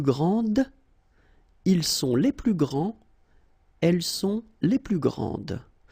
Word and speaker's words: grands: Il est le plus grand, elle est la plus grande, ils sont les plus grands, elles sont les plus grandes.